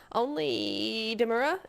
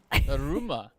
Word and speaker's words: Daruma: Only Demura? Did I get that right? Oh no, dear, oh dear. DARUMA. Yes. There we go. That's the syllables were just switched.